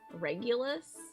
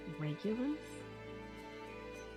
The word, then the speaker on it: Regulus: a freaking Kick-Ass name regulus it is a hard G regulus I'm going to say